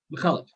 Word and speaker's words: Andrew McCullough: dragons we have francis molo andrew mccullough mccullen mccullough andrew mcculloch mcculloch thank you joshua i really need to start